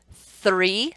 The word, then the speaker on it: three: We've got three, so th, th, th. And then there's the word there. Th, th, there. Th, th, three. Okay, there's a difference in those two sounds, which is what we're